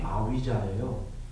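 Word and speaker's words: avijjā: 근데 이거 V를 빨리에서는 V를 읽지 않고 위를 읽어요. 위. 그리고 아까 A가 그 아 발음 해갖고 아위자 이렇게 되는 건데 왜 이걸 얘기 드렸냐면 우리가 명지라고 하는 거 있죠.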